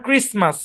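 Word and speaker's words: Christmas: আচ্ছা, আরো যেসব শব্দে টি সাইলেন্ট থাকে, যেমন ক্রিসমাস, মর্গেজ, অ্যাজমা, সফেন, বুফে।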